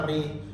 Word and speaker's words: Euri: Contoh katanya itu kayak tulisannya Euri dibacanya Eri, atau Seudati dibacanya Sedati gitu.